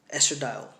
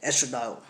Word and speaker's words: estradiol: it spells est are a di o l estradiol no I'm gonna pronounce it like that estradiol now estradiol is producing the ovaries right that's